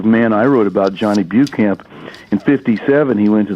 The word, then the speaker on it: Beauchamp: all came from, and I always heard it as Bucamp, but people are out in the hinterlands. They pronounce it Beauchamp and Beauchamp, and he didn't ever fight back.